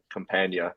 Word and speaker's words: Campagna: Campagna, like lasagna. Lasagna, Campagna.